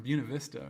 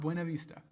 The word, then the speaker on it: Buena Vista: He's from Buena Vista, Virginia, not Buena Vista.